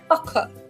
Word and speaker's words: pucker: wrinkles or small folds pucker I think it's a British pronunciation okay so today's word of the day is pucker paka paka or paka you uh Wait, let me quickly Haka.